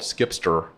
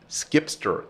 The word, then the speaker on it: zkipster: So here's how you can memorize for next time. Okay. It's skip the line.